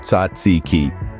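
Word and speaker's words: tzatziki: spell from Harry Potter it's tsiki pronounced ziki now say it with me ziki see you're practically a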